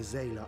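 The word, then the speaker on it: Xaela: But Zayla, that's how you pronounce it.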